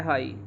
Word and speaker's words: high: जैसे एक स्पेलिंग है हाई, हाई की स्पेलिंग होती है HIGH, हाई की स्पेलिंग होती है HIGH, और हाई को हम हाई ही बोलते हैं।